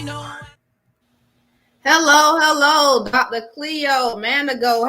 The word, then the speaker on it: Manago: it one more time for me dr cleo manago manago okay i'm sorry for the mispronounciation no problem okay doctor so look i